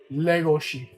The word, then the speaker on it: Legoshi: Legoshi. Oh, let me do it the Japanese way. Legoshi. That's how they say it in the actual Japanese.